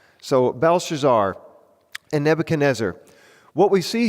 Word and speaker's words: Belshazzar: this new character, and I'll try to say his name correctly, Belshazzar, okay? A lot of consonants, right? It's a lot of those in speaking, not a ton of vowels. So Belshazzar and Nebuchadnezzar.